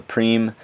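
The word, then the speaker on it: prime: that's the point of a prima is how you pronounce a Preem and that is also how you spell the word Preem when it is related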